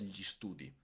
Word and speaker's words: gli studi: Atención también la pronuncia con una i es gli studi. Es muy rápida la pronuncia.